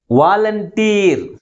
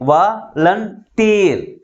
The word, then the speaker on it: volunteer: Volunteer. 3 syllables ఉన్నాయి. But which is pronounced with a greater force comparing with other syllables? That is tear.